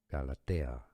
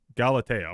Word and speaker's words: Galatea: So, let's start with the Greek pronounced in Greek. Galatea. Galatea.